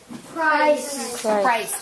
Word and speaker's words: Christ: is it that we say that name anyone christ even though it's christmas it's two christians so two ways it's pronounced with a short eye but the name